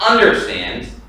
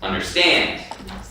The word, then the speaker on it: understand: So, for compound verbs, the stress is on the second part. So you know under, you know stand. Okay? It's not understand, it's understand. Okay? So it's on the stand part.